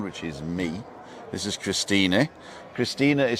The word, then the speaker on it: Christine: This is Christina. Christina is spelt with an E. It's like Christine, but we pronounce the E, don't we?